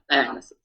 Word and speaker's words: Dionysus: Dionysus.